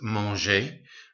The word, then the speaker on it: manger: verb, we put e, so manger here would still be pronounced manger, but you take the ER off, add an E accent. Okay, be careful how you pronounce this, because without the accent on it, it'd just be mange.